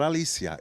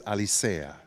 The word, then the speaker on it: Alicea: am Alicea and the correct pronunciation of my last name is not Alicia it's Alicea okay there's no other way so thank you I